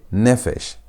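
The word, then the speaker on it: נפש: Notice that the P is a begat kafat letter and beat kafat letters are supposed to have a desh a dot for them to maintain their normal sound. P is supposed to be pronounced as p sound. P sound. But when it's not having the the is going to be pronounced as f sound.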